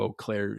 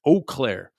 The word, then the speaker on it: Eau Claire: Actually, my buddy, Mike Johnson, superintendent of Eau Claire School District. Eau Claire. Yeah, spell that.